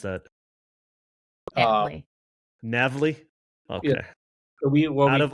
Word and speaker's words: NAVLE: So what we did early on, and how do you actually pronounce that? NAVLE.